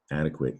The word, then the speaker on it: adequate: internet word to adequate the thing about adequate is it's not pronounced quaid after all we pronounce it adequate all right so you